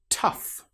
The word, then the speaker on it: tough: Tough. In this example, the gh sounds like the f sound. It's the same with cough.